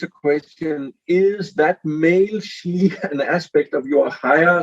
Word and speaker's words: Sidhe: that I wrote with Jeremy, Call of the She, which is my last book, there you can see how it is spelled.